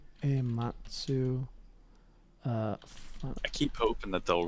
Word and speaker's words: Nobuo Uematsu: Uematsu? Nobuo Uematsu.